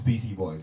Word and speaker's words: PC Boys: They go by the name of PC Boys, straight out of London. Welcome to the show, brothers. Yeah. Did I get the name right? Yeah, you got it right still. It's PC Boys, yes?